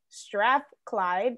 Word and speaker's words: Strathclyde: Sandy has a law degree from Cambridge, an MBA from the University of Strathclyde. Did I pronounce that right?